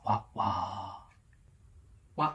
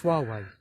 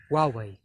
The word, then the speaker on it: Huawei: Wah wah wah. Wah wah wah is not how you pronounce the name of the Chinese telecommunications company. Nor is it Wahei, Wee Wee, or Wahei Man. It's Huawei. Huawei.